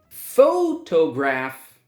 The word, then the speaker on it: photograph: Photograph, 3 syllables, and the first syllable is stressed.